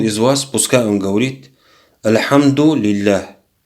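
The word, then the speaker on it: الحمد لله: пускай он говорит альхамдулилля очень важно говорить это слово правильно многие мусульмане не могут его произносить например говорят архангеле если сказать альхамдулилля это означает хвала это аллах это ошибочно правильно произносить его разделять вот эти два слова аль-хамду потом говорится не ала али для альхамдулилля вместе когда произносится говоришь хандогий для сразу без остановок альхамдулилля и говорит посланник аллаха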